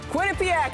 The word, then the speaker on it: Quinnipiac: Those players have some experience, and it's pronounced Quinnipiac, everybody.